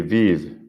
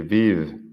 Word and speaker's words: vivent: y el del plural, pero he pronunciado la V en el plural, la V que está antes de la ENT.